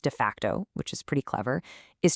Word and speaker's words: d-FCT: This is the absolute core challenge that de facto, and by the way, it's pronounced de facto, which is pretty clever, is trying to solve.